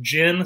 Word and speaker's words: gin: from the school of gin starts with a soft g jiff is pronounced jif